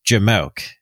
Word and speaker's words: jamoke: Jim moki's yeah and I've always known that word to be pronounced jamoke not like it really